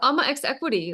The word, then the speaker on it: AMA X Equity: you pronounce exactly yes Amma X Equity like exactly so it's just the start of my name Amma and then X Equity